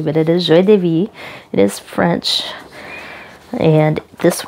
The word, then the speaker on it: Joie de Vivre: Vivre, if you're trying to sound that out phonetically, but it is Joie de Vivre.